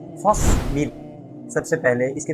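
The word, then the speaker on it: فاصبر: प्यारे बच्चों, हमारी किताब अहकाम कुरानिया उसका सबसे पहला हुक्म है फस्बिर। सबसे पहले इसके प्रोनाउंसिएशन को अच्छे से समझ लें।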